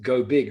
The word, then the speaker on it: Goebig: So if you're listening to the podcast rather than watching, Micha's last name is spelled Goebig, and it's pronounced go big, right?